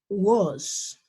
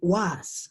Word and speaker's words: was: For singular, I say was. Okay? I don't say was. No, I say was. Okay? Suena con algo similar al sonido de la O, de esa vocal.